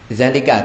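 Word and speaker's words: ذَلِكَ: Nah, zalika kalau dibaca seperti itu. Namun untuk za kita baca panjang.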